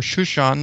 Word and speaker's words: Shushan: We mentioned that the word for the citadel in Susa, or Shushan, is actually how it's pronounced in Hebrew.